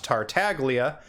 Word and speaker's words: Tartaglia: snezen iron man tartalia yes i said tartalia not tartaglia like his va griffin burns says that's because this is